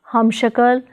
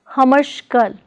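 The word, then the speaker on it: हमशक्ल: Prefix hum plus shakal is pronounced as humshakal, not as humashkal, but as humshakal.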